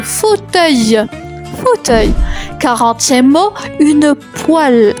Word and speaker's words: poêle: 40e mot, une poêle. Attention, ça induit en erreur.